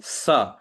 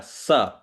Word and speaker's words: स: ठीक है, श, श, और ये स अक्षर को दंत्य शकार, स, स, इसका उच्चारण दांतों में जीभ लगाकर, स, स, स, स, ठीक है, स।